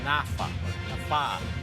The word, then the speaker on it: NaFFAA: First of all, am I pronouncing that right? NaFFAA? How do you call it? The first one, it's NaFFA. NaFFA.